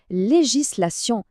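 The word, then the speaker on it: législation: هي التشريع اللي هي ليجيسلاسيون ركزوا معايا في المقاطع لي جيسلاسيون وهنا غادي نساليو المستوى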